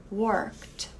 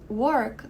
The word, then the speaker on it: work: mesmo caso desse aqui porque work também termina com k e esse k é cortado no meio da pronúncia né então eu não digo work como seria a pronúncia do k lá no alfabeto eu digo work Então por causa disso